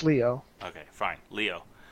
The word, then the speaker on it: Lio: Think about Leonardo. Okay, Leo. But it's spelled L-I-O. But that's how WWE Leo. That's the Spanish way. Lio. No, think of the Spanish way. In Spanish, that's Leo.